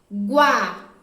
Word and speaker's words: água: som da letra u vamos para a última palavra guaraná água água saiu som da letra g sai o som da letra u tá isso e três